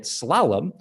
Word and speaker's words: slalom: its pronunciation call it slalom with the accent on the first syllable and you will be right slayum is also an